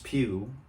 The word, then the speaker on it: Pugh: So like the Florence Pugh line on Basement, I was thinking about the rhyme orange juice, and Florence Pugh, the actress, that rhymes with orange juice perfectly.